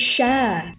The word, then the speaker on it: Cher: It's Cher. Her name rhymes with air.